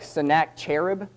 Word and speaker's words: Sennacherib: But the spelling looks like Sennacherib, but it's pronounced Sennacherib.